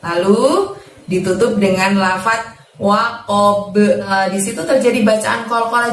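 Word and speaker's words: وقب: Gosiqin, ida panjang 2, lalu ditutup dengan lafadz waqob. Di situ terjadi bacaan qalqalah juga teman-teman, karena kita membaca sukun huruf ba di sana ya. Waqob, jangan waqob tapi waqob, seperti ba di fathah ya cara mantulnya ya.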